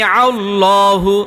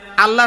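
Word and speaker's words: الله: নং সূত্রের মধ্যে আছে আল্লাহ শব্দের ডাইনে জবর বা পেশ হলে আল্লাহ শব্দের লামকে মোটা করে পড়িতে হয় আল্লাহ শব্দের লামটাকে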